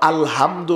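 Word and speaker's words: الحمد: আলহামদু, এটাকে বলে হায় হুক্তি, অর্থাৎ বড় হা। এখন এই হা যদি তার সঠিক মাখরাজ থেকে, সঠিক জায়গা থেকে উচ্চারণ না করেন, তাহলে তো আলহামদু হবে হায় হাওয়াজ, ছোট্ট হা। বুঝেননি আপনারা? ছোট্ট হা যদি পড়েন তাহলে নামাজ হবে নি।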